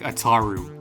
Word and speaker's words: Ataru: Just a heads up, every dub pronounces Ataru's name more like Ataru, except maybe this guy.